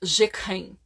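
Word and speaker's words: Jacques Heim: deles é hã jeken Isso é a pronúncia em francês mas o nome é ja hein se pronuncia jeken eh Ele criou o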